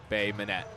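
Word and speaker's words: Bay Minette: And it is pronounced Bay Manette.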